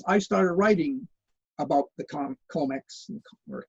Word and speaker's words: COMEX: I started writing about the Comex, or Comex is the way people pronounce it.